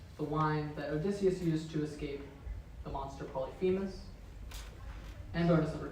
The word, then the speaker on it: Polyphemus: And if Team A gets those points, then you get 15, because it's spelled Polyphemus. It's Polyphe, not fee, so that makes a difference.